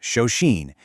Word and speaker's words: Shoshin: Shoshin, and it's pronounced Shosheen, is a core concept